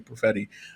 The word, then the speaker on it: Perfetti: ann walter and chris perfetti that's how we say his name profetti um so it you